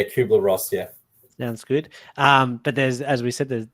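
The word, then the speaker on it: Kübler-Ross: think it's got a I've always pronounced the cuer part wrong but yeah kuer Ross yeah yeah good um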